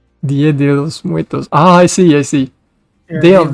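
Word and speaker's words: Día de los Muertos: How do you pronounce that? Oh, Dia de los Muertos. Dia de los Muertos.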